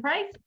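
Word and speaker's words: Preiss: name so underscore p-r-e-i-s-s and it's pronounced price which is very confusing well fantastic so we're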